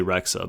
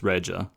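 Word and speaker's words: Rexha: was bb uh well they say rexa but it's regia um but you know albanian pronunciation and all that but that's fine um i it makes sense why she wouldn't use the albanian pronunciation because any westerner like who has a grasp of english isn't going to look at the xh and think that's a j sound so it's fine um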